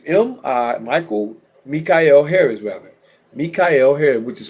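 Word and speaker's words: Mi'chael Harris: My Facebook is Mi Michael Mikyel Harris rather Mika Harris which is spelled Michael but pronounced Mika by M I apostrophe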